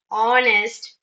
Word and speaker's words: honest: Like in words like our, honest, okay? Just see the word begins with the consonant alphabet. H. H is a consonant, you all know that. But H is silent in these words.